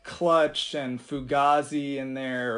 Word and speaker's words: Fugazi: of like clutch and Fugazi in there or Fugazi I should say I think is the correct pronunciation and and also there's